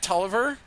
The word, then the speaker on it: Tolliver: Am I pronouncing this right? Tolliver?